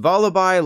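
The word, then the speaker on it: Vullaby: for a Voli yes it's pronounced Voli like lullabi which you'd know if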